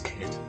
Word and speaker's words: Kate: That of course brings us to Kate, which is how that's pronounced. It's Kate.